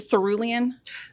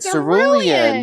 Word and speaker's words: cerulean: Oh, it does remind me of that crayon that I used to love that I can never pronounce as a kid. Cerulean. You're right. It is. It's probably still not pronounced correctly, but That's it. It's cerulean. And then it says 3 Bulls.